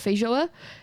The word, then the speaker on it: feijoa: Oh, how they missed the sweet feijoa, I don't know how you say it, feijoa scent that was coating the air.